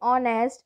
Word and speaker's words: honest: Number 12, Androcles was an honest slave in Rome. His master was not a kind man, so he wanted to run away with the other slaves. Over here again, honest, H is silent.